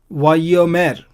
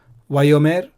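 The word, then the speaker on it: ויאמר: Vayomer, and he said. It's not Vayomer, it is Vayomer. So on the ya sound, there's a doubling of the letter.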